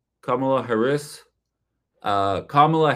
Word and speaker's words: Kamala: Um, Kamala Kamala Harris uh Kamla Harris I think is how you pronounce it.